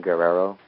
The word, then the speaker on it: Guerrero: they are at pronouncing Guerrero like it's like the one name that's always screwed up a simple name to remember it's three syllables Guerrero I mean my god